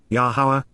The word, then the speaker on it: Yahowah: together with and beside yahwah yahwah the proper pronunciation of the name of iloa God has